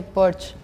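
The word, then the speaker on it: Porsche: have nothing to show in Spain we say B gorgeous Spain we say porch oh yeah the S is missing again hey you need to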